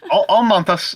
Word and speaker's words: Almantas: had audio problems immediately going into this um all Manas is is the pronunciation it's it's Lithuanian um but